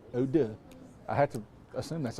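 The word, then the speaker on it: eau de: And Oda. Oda. And that's spelled E A U space D E. Oda.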